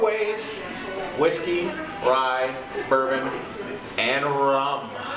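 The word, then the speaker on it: rhum: Whiskey, rye, bourbon, and rum. It's spelled R-H-U-M. Yeah, because, you know, from the Caribbean, crap like that.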